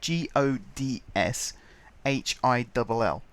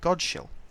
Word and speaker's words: Godshill: you pronounce them, so there's one that's spelt G-O-D-S-H-I-L-L. And I used to call it Godshill, but no, it's called Godshill. But you don't know that, because SH is sh, and there's not a